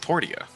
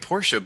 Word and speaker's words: Portia: portion it is i know but it's it's pronounced portia is it i thought it was so i'd been calling it no i've been calling it porsche but in game if you talk to the